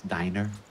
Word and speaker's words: Diner: on which way I'm gonna go five star dinner first because of the heal buff that Sam and I could I could correct your pronunciation again it's diner diner yes no it's oh it's diner oh